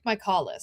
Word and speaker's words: Michaelis: I think it's Vic Michaelis. Michaelis. All right. Like Michael.